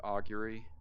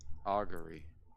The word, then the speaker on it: augury: almost identical to auguy is that how you pronounce it augury yeah aury aury aury augury yeah you got to say it in a Scottish accent I I okay okay